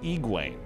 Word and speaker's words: Egwene: In the audiobook, they pronounce it Egwene.